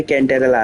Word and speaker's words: Cantarella: मेरा प्रोनाउंसिएशन इसी तैसी भाई, बैड भाई हमेशा भाई। तो ये कैंटेरेला है, ठीक है भाई, समझ गया मैं।